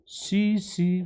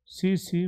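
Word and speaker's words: tsetse: वहां पर एक लोकल फ्लाई होती है जिसका नाम spread by सीसी फ्लाई T silent रहता है सीसी फ्लाई आपने देखा होगा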